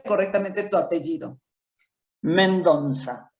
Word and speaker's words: Mendonça: Mendonza. Es una Men- Z antigua.